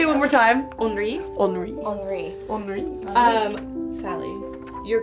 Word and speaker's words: Henri: you're going to be Henri. I'm glad I know how to say his name now. Henri. Henri. Yeah, that's. I was thinking it was Honoré.